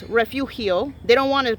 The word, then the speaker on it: Refugio: And you are, if you live in this town or Refugio County, they call it Refugio, but it's Refugio. They don't want to pronounce it the real way because they're so pushed away from their heritage over here, right?